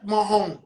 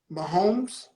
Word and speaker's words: Mahomes: let me give you a um uh patrick mahoney right patrick mahoney cold as ice he played against huh what mahomes i'm right right i'm saying it right right